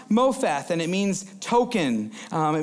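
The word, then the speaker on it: מופת: the word miracle mean in hebrew well it's pronounced mopheth and it means token it means miracle it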